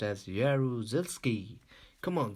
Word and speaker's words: Jaruzelski: say aru cels ki I and this is pronounced as jaruzelski come on say again with me yeah rules